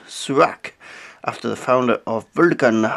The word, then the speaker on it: Surak: archer pronounced the name it seems much more likely however that it would be pronounced surak after the founder of